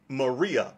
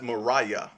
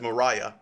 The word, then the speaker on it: Maria: heard of her as maria woodward etter and that's not really how you say her name her name is spelled maria but it's actually pronounced as mariah as mariah and so you might